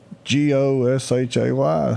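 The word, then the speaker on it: Gautier: But Greg brought up one that if you didn't know any better, I don't know how you'd ever spell it. Gaucher. Gaucher. Yeah. G-A-U-T-I-E-R. Goshay.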